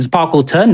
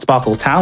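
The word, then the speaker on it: Sparkleton: sparklet one and yet Sparkle turn not Sparkle town like I've been mispronouncing it as a kid there's no W because you know it's sparkling a ton get it ah yeah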